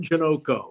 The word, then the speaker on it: Janoko: Boy, did I miss Tim Janoko. Rhymes with Sunoco. Oh, yeah, Tim.